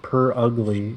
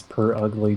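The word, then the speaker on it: Purugly: Glam me out well I I I figured it's per ugly just because it's the word Pur and ugly put together clever by the way clever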